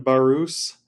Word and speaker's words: Barousse: I'm interviewing the CEO of slice engineering Dan barus uh did I pronounce that right you did yeah you actually